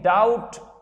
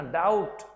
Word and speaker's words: doubt: और इन डाउट, DOUBT, pronunciation देखना, डाउट, और नॉट फैक्चुअल, जो वास्तविक नहीं है।